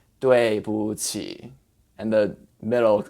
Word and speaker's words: 不: in your mouth and it's a taller vowel so ooh boo but in this phrase you say with the neutral tone and just kind of glide over it okay so you say